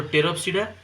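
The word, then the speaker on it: Pteropsida: this toopa this here this p is silent so teroa and then we have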